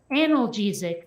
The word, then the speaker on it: analgesic: And at one point, one of the characters, Turk, he goes, "Ma'am, this is pronounced analgesic.